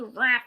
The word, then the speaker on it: Rath: one of them is Miss Emily Rafe oh my God Emily wrath Emily Rath I hate that I do that I'm so sorry I hate that I mispronounced her name Emily wrath very energetic